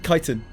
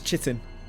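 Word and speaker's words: chitin: Um, kiten is one of them. I pronounced it as chittin for an unbelievably unbelievably long amount of time in my life. Probably like 25 30 years cuz I just never heard it out loud once.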